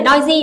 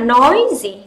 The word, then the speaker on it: noisy: Không phải noisy mà noisy. Trọng âm rơi vào âm tiết đầu tiên.